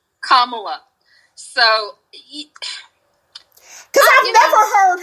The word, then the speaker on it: Kamala: camelot the best one the best way to remember how to pronounce it is it's comma law so like kamala so cause i've never